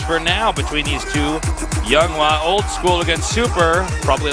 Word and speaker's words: YongHwa: Yeah, if you pronounce it YongHwa. If you pronounce it YongHwa, which is what his name actually is, then it's not that.